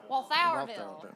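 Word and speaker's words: Walthourville: How will it affect cities like Walthorville? So, Walthville like our it's our Walthville um who have their own wastewater system or who have their own water system.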